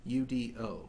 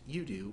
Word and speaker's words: UDO: one as user-defined objects which I'll pronounced using the acronym you do pronounced you do when referring to user-defined